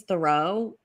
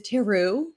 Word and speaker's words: Thoreau: have my last name is thoreau but i that's so that's how my family has pronounced in america for a long time but then i moved to canada and i was informed i was saying it wrong and they were like actually your last name is teru and um i had